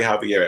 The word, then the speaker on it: Xavier: i'm using now is the last name is the spanish pronunciation of that of that name and was there an